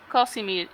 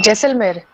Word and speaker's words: Jaisalmer: It's not Casimir. It's a Heiselmer. I don't know what is the correct Like pronunciation. Jaisalmer, Jaisalmer.